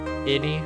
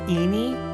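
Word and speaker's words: Ini: Innie? I think it's supposed to pronounce Eenie because it's a really stupid eeny, meeny, miny, mo joke.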